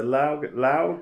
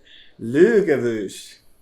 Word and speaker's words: Laugavegur: It's the Laugavegur. Laugavegur. Yeah, but it's not pronounced that. It sounds like this. Laugavegur.